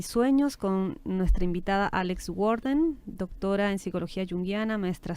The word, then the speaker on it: Warden: Y bueno, por si acaso su apellido se deletrea W-A-R-D-E-N, Worden, ¿no? así se pronuncia, pero ese es...